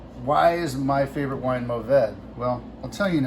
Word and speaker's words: Mourvèdre: And I tell them it's Mourvèdre. And so that's spelled Mourvedre. There's a lot of ways to pronounce it. You can say Mourvèdre, like the French. Don't do that. In California, we say Mourvèdre.